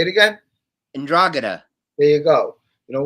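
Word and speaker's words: 'Ndrangheta: i don't know how to pronounce that it's pronounced there you go and glad say it again andragana there you go you know what they're very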